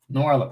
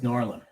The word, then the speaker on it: Noirlem: Noir plus Harlem equals Noirlem. Noirlem, yes.